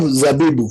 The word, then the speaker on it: zabibu: So basically, you pronounce it as za, then you put a b, then a boo. Zabibu.